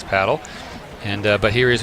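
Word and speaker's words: pádel: But in Spain, you'll say internationally the proper way to say it is paddle.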